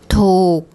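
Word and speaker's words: ถูก: So the tone rule, we have the high class initial consonant. It ends with a K sound, so that's a dead syllable. And this is a long vowel. So if you look up the tone rule for a high class initial consonant, dead syllable, long vowel, you get a low tone.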